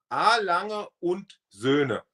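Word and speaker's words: A. Lange & Söhne: Can you please pronounce Alange Unzona? Do you know A, how to A. Lange und Söhne.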